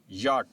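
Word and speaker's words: yacht: यट। अब यहां पे भी हम सी को प्रोनाउंस नहीं करेंगे।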